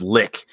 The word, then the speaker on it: lich: I won't change it unless it's Lich in which case I refuse to change the way I pronounce it anyway in which is it lick lick lick yeah it's a litany I find sometimes I find certain pronunciations are narrative ly good love you baby yeah yeah record says yes lick yeah see I prefer